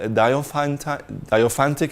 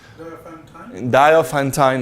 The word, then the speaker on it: Diophantine: And anyway, the Mckay correspondence really has to do with the solutions with diophantic equations. How do you pronounce in English? Diophantic equation? Diophantine equation. Yes.